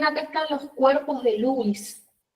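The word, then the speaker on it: Luys: están los cuerpos de Lewis. Lewis se escribe L-U-Y-S. Es como un Luis, pero Lewis, con una Y.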